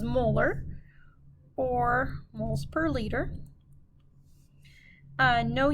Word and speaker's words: molar: this one would be capital m which we pronounce as molar or moles per liter